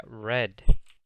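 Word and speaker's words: read: se dice gente grit es leer pero en el pasado se pronuncia red como el color noten que este irregular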